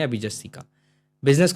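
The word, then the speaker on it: ビジネス: बाद आएगा ने ऐसे होता है ने स बी जी ने स है ना बी जी ने स बिजनेस क्लियर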